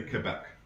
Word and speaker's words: Quebec: When Americans say Quebec, they can't say Quebec. Well, it starts with a Q. They don't have a silent U in America.